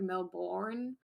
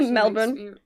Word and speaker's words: Melbourne: in a lot of american parents like melbourne no i say melbourne like you kind of